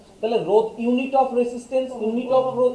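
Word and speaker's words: rho: ইংরেজিতে কি বলা হয় রো এইচ সাইলেন্ট থাকে রো রো একচুয়ালি কি রো একচুয়ালি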